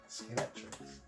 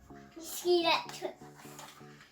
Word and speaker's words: Scalextric: Scalextric. Scalextric.